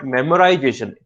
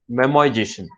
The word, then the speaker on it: memoization: So it is not memorization, that's how we pronounce it, is memoization.